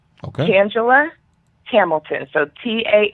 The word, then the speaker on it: Tangela: you say my name Tangela Hamilton so ta n GE LA so that's like Angela with the T in front and my last name